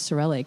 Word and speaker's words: Sorelle: Yes, Sorelle.